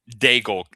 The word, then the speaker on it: Daigle: Daigle. So, it's like bagel but with a D.